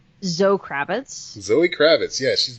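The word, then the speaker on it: Zoë: Her name is Zoe Kravitz, not Zoe. Really? It's just Zoe? Yeah, it's Zoe.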